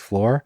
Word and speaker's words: Shloer: In North, a Christmas celebration is not complete without a bottle of Flor. And it's funny, it's spelled SHLOER, but it's pronounced floor.